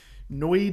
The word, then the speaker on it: NOID: a weird word huh noid is how Assam officers pronounce and lawyers pronounce this noid called a notice of